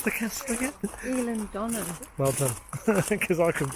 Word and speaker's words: Eilean Donan: And how do you pronounce the castle again? Eilean Donan.